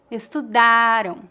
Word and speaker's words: estudaram: A sílaba forte da palavra estudaram é a penúltima sílaba, da. O som AM no final é bem fraco, estudaram.